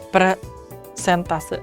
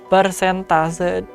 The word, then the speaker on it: persentase: Siapa di sini yang masih mengatakan atau sering mengatakan presentase? Ayo angkat tangan sobat belajar. Nah, sesuai dengan KBBI ini penulisannya atau ejaannya salah ya, Sobat Belajar. Karena bukan presentase tapi pers tase. Nah, itu dia tulisannya adalah persentase.